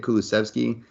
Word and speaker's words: Kulusevski: I think that's the right way to say it, Kulusevski.